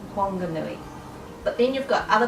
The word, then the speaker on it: Whanganui: that I've seen H but anyway it's not pronounced Whanganui it's pronounced Whanganui but then you've got other place names like